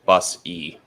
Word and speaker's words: Busse: Also, just a FYI, last name is pronounced Busse. Okay. Yeah, no worries. I just caught it there right as you went off from the last segment. I was like, oh, let's get that right. And there was someone the other day that had the same spelling, and they did say it like you just said it.